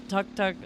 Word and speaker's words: tuk-tuk: The tuk-tuk roars along with marigold petals flying wildly. Not yet, best spot. Hold that back tight. Wee, wee. It pronounced tuk-tuk, but it says T-U-K. It's tuk-tuk.